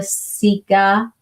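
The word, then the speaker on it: cica: And on the Korean side, you're going to see the Sika. That's how it's pronounced.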